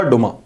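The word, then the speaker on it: Duma: Russia डुम्मा, DOMA डुमा and federal council. Rajya Sabha federal council, Lok Sabha डुमा। तो डुमा बोलेंगे तब भी चलेगा, डुमा एंड फेडरल काउंसिल।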